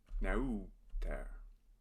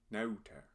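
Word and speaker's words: neuter: Nauter. This has another diphthong, the EU combo. Au. Nauter.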